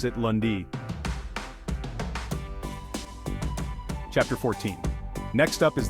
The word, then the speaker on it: lundi: day is Monday or lundi in French we pronounce it lundi chapter 14 next up is the second day